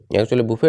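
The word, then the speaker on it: buffet: ওটা খুব বড় নাম্বারটা বাফে বা বুফে বুফে হচ্ছে কিন্তু এটা উচ্চারণ বুফে এটা মানে কি হতে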